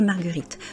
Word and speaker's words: marguerites: Vous avez le S à la fin qui est en fait simplement la marque du pluriel. Et la marque du pluriel en français est muette. Donc la marguerite, les marguerites.